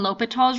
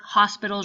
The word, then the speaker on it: L'Hospital: is a video on lal's Rule now make sure you pronounce it right you don't pronounce the s in it it's not Hospital's rule Lal now this